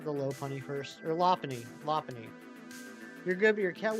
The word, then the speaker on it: Lopunny: a mighty it'll be glowing uh apparently it's lony I always said low Poney but uh Ary the other week consulted the